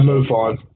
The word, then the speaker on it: MUFON: or MUFON on I they pronounced yeah move on but a Brazil UFO